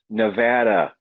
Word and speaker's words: Nevada: I know we have some people who like to correct us on pronunciation. It's Nevada.